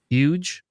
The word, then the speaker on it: UKGE: Huge, huge, huge. Yeah, just ignore the K and you're you're good.